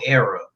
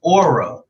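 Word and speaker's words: Oera: It's spelled O-E-R-A. Okay. Now, if you look at it, you would just think era, which is cool because it's like it's a whole nother era, like old era. But it's pronounced Aura.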